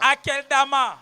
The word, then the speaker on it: Akeldama: Dis-le comme on dit, tu le dis en lingala. Akedama, akedama. Akeldama. Dis à ton voisin akeldama. Qu'il prononce bien akeldama.